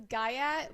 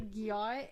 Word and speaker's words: gyat: And then we have okay, my brother pronounces this gayat, but it's literally gyat, and it just means you have a big butt.